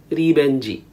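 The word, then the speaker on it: リベンジ: In Japanese, it is pronounced as ribenji.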